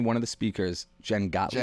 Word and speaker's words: Jen Gottlieb: How do you pronounce her last name? One of the speakers, Jen Gottlieb. Jen Gottlieb.